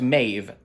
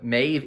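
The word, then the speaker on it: Maebh: is pronounced which is why this name is pronounced maeve got to take that out didn't have time i would love that if you know if you watch this that's a bonus for you bonus fact uh maeve m-a-e-b-h yeah that's how it's spelled to pronounce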